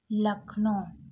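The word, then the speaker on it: Lucknow: जाता है इसको अब यहां पर देखिए एल यू लक यहां पर यू साइलेंट है सी के को का पड़ा और एन ओ ओ डब्लू को ओ पड़े यानी कि लखनऊ उत्तर प्रदेश इज द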